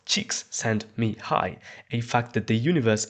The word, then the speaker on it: Csikszentmihalyi: In the '70s, this guy called Mihaly Csikszentmihalyi, pronounced "cheeks sent me high", a fact that the